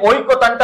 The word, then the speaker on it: ঐক্যতান: তাহলে এই ঐক্যতানটা আমরা কিভাবে বলি?